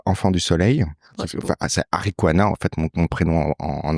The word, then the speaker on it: Ariqua: Ouais, c'est Arikwana en fait mon prénom en entier. On a retiré le na, ce qui s'écrit A-R-I-Q-A, qui se prononce Arikwa, qui est on va dire enfant du soleil.